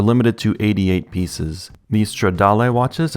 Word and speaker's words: Stradal: These Stradal watches, and yes, that's how I'm pronouncing the word because it's Italian, those will sell for $4,250.